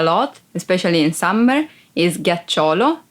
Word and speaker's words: ghiaccio: Ghiaccio. Ice. Ghiaccio. Ice. Be careful because if you don't pronounce G as a hard sound like G, it would be ghiaccio, that it's a verb and means lie down.